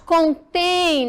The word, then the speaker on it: contém: quando a gente sinaliza quando eu coloca o vermelho naquela naquela sílaba eu quero dizer para vocês a pronúncia dela é mais forte ó dá de chocolate contém né bastante chocolate nessa caixa contém o tem a sílaba mais forte quando eu digo contém